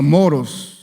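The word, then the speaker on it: μωρός: necio esta palabra necio viene de una palabra griega que se pronuncia moros Qué significa a ver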